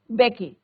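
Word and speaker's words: Mbeki: थैबो बेकी। Am silent है इसमें बच्चों, थैबो बेकी।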